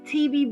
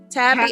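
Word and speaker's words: Tybee: TB Beach, I think I went there. Am I saying it right? It's Tabby Island.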